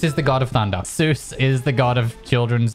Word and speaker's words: Seuss: I said Dr. Zeus. How do you say it? Seuss. Dr. Seuss with an S.